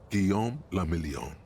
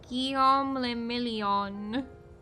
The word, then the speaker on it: Guillaume le Million: Guillaume le Million. Okay. If it doesn't rhyme, you're not pronouncing it right. Guillaume le Million.